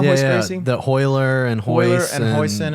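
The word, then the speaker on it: Royler: The Hoyler and Hoyler Hoist and Hoyson and all that. Hyson. Yeah, but their names It's all all start Rs. with R's, but Yeah. they pronounce it as an H.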